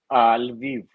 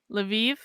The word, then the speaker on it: Lviv: I visited Kiev, and I don't know how do you pronounce that other one, Victor? Lviv. Lviv.